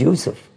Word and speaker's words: Yusuf: We put a J sound for the Y's. That's English. His name was not Jacob. It was Yaqub. His son's name was not Joseph. It was Yusuf.